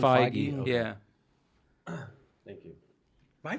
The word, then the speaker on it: Feige: it's Kevin Feige.